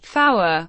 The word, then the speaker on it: Fower: The pronunciation of the digits 3, 4, 5, and 9 differs from Standard English, being pronounced tree, fower, five, and niner. The digit 3 is specified